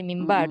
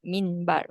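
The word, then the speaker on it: مِنْبَر: written with a nun, just like the word mimbar. We say mimbar, not minbar. Okay.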